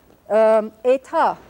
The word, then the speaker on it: État: And here are the accents on the second syllable, so we'll put our little raised mark here. Cité, Île de la Cité, Cité. État, as in the state.